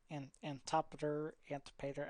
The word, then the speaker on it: Antipater: Antipater. I'm pretty sure it's Antipater. Antipater. It rhymes with Darth Vader.